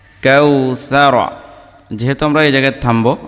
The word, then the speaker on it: কাওসার: জবর কাউ কাল কাউ জবর র জবর র কাউসার যেহেতু আমরা এই জায়গায় থামবো এজন্য কাউসার আশা